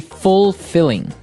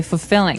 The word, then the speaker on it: fulfilling: You don't say fulfilling. No, you say fulfilling. Fulfilling. So the L there is kind of silent. Kind of optional.